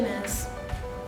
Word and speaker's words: Maas: Maas, your name rhymes with trash.